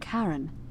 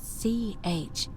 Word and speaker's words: Charon: Only your pronunciation is a little off. The name you heard wasn't Karen. It was C-H-A-R-O-N.